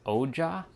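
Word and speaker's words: Ojai: So big su mount shasta um I think it's pronounced oja oja or oa o j a i oja I think that's what it's pronounced like when I'm there like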